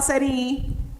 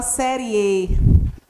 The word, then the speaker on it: série: Tanto que ele não muda o som de para I, não. A gente não fala série I, a gente fala série E.